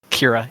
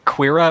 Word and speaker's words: Kira: Kira, yeah. Kira. I always want to say like the Q, like Quira or something, but yeah, I don't think that's right.